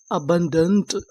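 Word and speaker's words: abundant: तो मीनिंग क्या बनी, ए बी यू एन, अबन, डी ए एन टी। इसे क्या पढ़ेंगे, डंट। तो मीनिंग क्या बनी, अबंडेंट।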